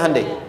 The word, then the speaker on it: Hyundai: Hyundai kan dibacanya Hyundai, kan?